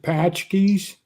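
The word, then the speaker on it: pączki: until Easter, they have I pronounce it patchkes. It's like I don't know how you pronounce, but it's spelled like Paczzych or something.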